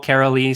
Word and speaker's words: Karoly: I usually like to tell people with, like Christmas Carol, Karoly.